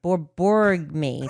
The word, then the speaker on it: borborygmi: Borborygmi.